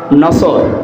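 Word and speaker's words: نصر: নিয়ে আমরা তাফসীরুল কোরআন মাহফিলে প্রবেশ করছি সূরা নসর কোন সূরা নসর বলেন বলেন নাসর নসর না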